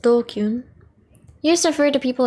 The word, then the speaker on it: DQN: DQN, pronounced dokyun, used to refer to people who are stupid, antisocial, or delinquents.